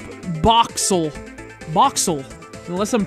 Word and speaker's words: Boxzle: an X it's called boxel boxel unless I'm pronouncing it wrong that means it's a silent Z and no Z in